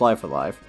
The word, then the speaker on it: Live A Live: outside of a fan translation and yes it's pronounced live alive the katakana is on the original box so